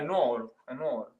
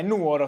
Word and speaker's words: Nuoro: mi ricordo più eh ma secondo me è nuovo già che me lo pronunci così ti toglierei la cittadinanza è Nuoro si dice E comunque io un